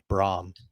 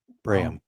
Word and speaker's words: Braham: Kenny and I grief saying when it was just Braum no it I've watched numerous highlights now it is Brham Braham is weird